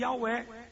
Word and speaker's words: Yahweh: Jeová não é errado. Javé não é errado. Yavé não é errado. E Yahweh também não é errado. Mas ninguém sabe qual a pronúncia certa.